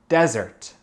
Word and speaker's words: desert: OK, les choses à remarquer, c'est que le premier syllabe, c'est l'accent tonique. C'est desert. Desert. Et les deux mots ont le son Z. En français, un mot a un son S, un mot a un son Z.